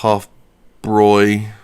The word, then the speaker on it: Hofbräu: It is pronounced Hofbräu. I thought the A umlaut made it a Y.